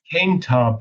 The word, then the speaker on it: Koentopp: Well, with that, I want to invite I want to welcome our guest, Danny Kingtop is the correct pronunciation of your last name.